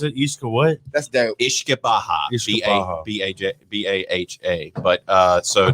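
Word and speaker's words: uisce beatha: Yeah, so it actually goes back to an old Gaelic word that's pronounced Ishke Baha, and that's where the root word of whiskey comes from. Ishka, whiskey. Are you Ishke Baha.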